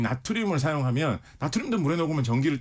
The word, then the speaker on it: 나트륨: 근데 리튬 바로 밑에 있는 게 바로 나트륨. 요즘은 이제 영어식 발음으로 소듐이라고도 많이 하죠.